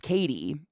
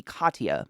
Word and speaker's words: Katie: But my name is Katie, and he was convinced it should be Katia, the way it is spelled.